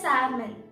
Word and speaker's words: salmon: is known as salmon in this l is silent that's why we call it as salmon in the so